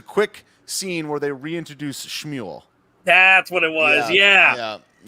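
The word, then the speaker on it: שמואל: Shmuel is how you say is like supposedly Samuel in ancient Hebrew or whatever.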